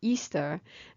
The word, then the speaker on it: Ishtar: Semiramis became known as Ishtar, which is pronounced Easter, and her moon egg became known as Ishtar's egg.